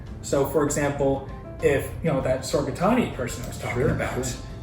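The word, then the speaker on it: Sorghaghtani: Sorgatani.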